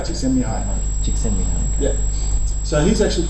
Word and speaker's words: Csikszentmihalyi: This chap here, does anyone know how to pronounce his name? It's Mihaly Csikszentmihalyi. Not bad. Yeah. It's Mihai. Mihai Csikszentmihalyi.